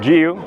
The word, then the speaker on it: GU: brand you can say you can pronounce it properly it's called gu and not goo to those of you